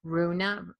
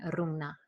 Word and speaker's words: Rúna: you know I'm new I'm more used to people outside of Iceland saying Runa rather than Runa which is the way that um the original pronunciation is so thank you I